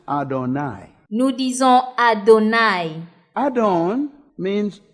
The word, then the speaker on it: Adonai: We pronounce it Adonai.